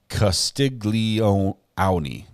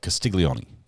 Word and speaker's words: Castiglione: It's sort of one syllable, right? You don't like Castiglione. It's more like Castiglione. It's like a Castiglione thing. You know, if you could clap it, it's just one clap, right?